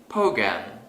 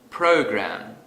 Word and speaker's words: program: Suppose I say program instead of program.